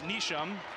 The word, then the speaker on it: Neesham: Another cousin cousin of coach Neesham watching from Ethan and it's Neesham. That's the pronunciation.